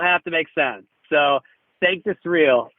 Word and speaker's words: Sanctus Real: So we've got a Latin word that we pronounce as though it's English, and then an English word that could be Latin.